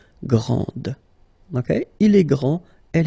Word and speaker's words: grand: This final D is not pronounced. Okay, so grand, and then the feminine form, grande. Okay, so you put this E, and then you get the sound D, D, grande.